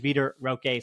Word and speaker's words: Vitor Roque: at least confirmed that the pronunciation while my Portuguese Is Not Great is veter Roque so I'll be 100